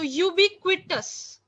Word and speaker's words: ubiquitous: to read it yes so the last part is tus okay so ubiquitous okay you beat the C is yes it's not silent ubiquitous means something that